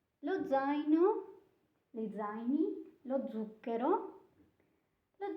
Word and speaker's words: zaino: Now, so this is the first case, because it has a sound, a letter that when you pronounce it makes dz. So it's two sounds.